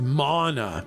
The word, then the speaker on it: mana: It's pronounced mana. Yeah, that's what I'm saying. Mana. Okay, I think I'm gonna